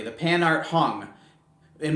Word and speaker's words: Hang: The pan art hung, and most people would say hang because that's how it's written.